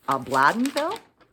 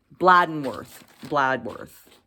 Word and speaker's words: Bladworth: a little town called, I just want to make sure I'm saying it right, Bladdenville? Bladworth. Am I saying that right? Bladworth, Saskatchewan. I'm sorry for the mistake.